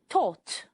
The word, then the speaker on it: thought: Thought. This time the gh are silent.